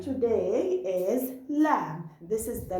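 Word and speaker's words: لام: Three letters we pronounce them from our tip of the tongue, and today we'll know them. The first letter today is lam. This is the letter lam.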